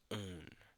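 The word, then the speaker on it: -one: Now ketones usually use the suffix o n e pronounced as own.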